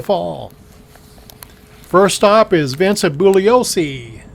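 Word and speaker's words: Bugliosi: First stop is Vincent Bulliosce. The G is silent.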